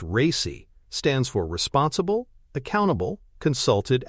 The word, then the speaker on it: RACI: RACI, pronounced "racy", stands for responsible, accountable, consulted, and informed.